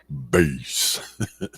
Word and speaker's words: Bas: happily peace peas it is pronounced base yes that is one